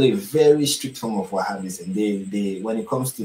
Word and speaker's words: Wahhabism: That's what it is pronounced. Wahhabism. That's how it is pronounced. They follow a very strict form of Wahhabism.